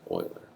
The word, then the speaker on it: Euler: It's not pronounced Euler, it's Euler.